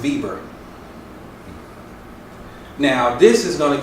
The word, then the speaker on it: Weber: Spell Weber is pronounced Weber.